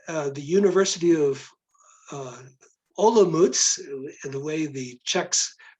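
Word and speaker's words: Olomouc: uh eastern wing uh the university of uh olomouz the way the czechs pronounce the town uh is occupying uh uh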